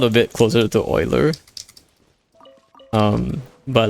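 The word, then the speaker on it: Euler: Like uler is pronounced Oiler. Yeah. Oiler.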